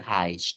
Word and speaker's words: heißt: E dibacanya I, huruf SZ bacanya S. Jadinya wie heißt du?